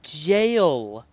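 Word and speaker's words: gaol: Oh, it's pronounced jail.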